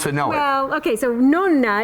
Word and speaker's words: Nonna: Well, okay, so Nonna is really the way you pronounce it.